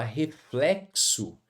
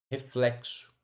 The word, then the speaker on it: reflexo: Quando a gente fala reflexo, observe que essa letra X aqui, ó, ela tem som de KS, ó, reflex reflexo, certo?